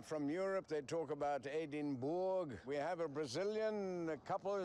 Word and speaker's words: Edinburgh: language they are from Europe they talk about Eden Bor we have a Brazilian couple here how do you pronounce it again edin bgo edin bgo edenburgh people say Edinburgh what's the correct way to say it Edinburough and it seems a couple of the tourists